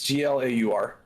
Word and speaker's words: Glaur: Is that how you pronounce it? Glower. Yeah, it's Glaur.